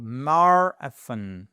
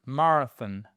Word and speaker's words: marathon: So it means we have a stress on the first syllable. So, marathon, marathon.